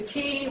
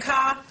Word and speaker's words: ka: Now, the word K or Ka, when you get the key, which is K and Ka, Ka, which people say Ka, but it should be pronounced K, is defined as a